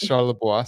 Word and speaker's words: Charlebois: How do you spell that? Uh, Shalaboisa, C H A R L E B O I S.